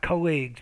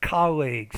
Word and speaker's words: colleagues: colleagues to for colleagues i'm not colleagues but colleagues so stresses on the first not the second syllable project and it was